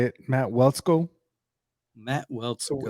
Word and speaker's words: Waletzko: Matt Waletzko, right? Did I say his name right? I think that's how you say it, Matt Waletzko.